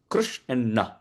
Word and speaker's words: Krishna: In the Udyoga Parva of Mahabharata, this has been quoted by Bhagwan Vyasadeva, that the word Krishna has two syllables, Krish and Na.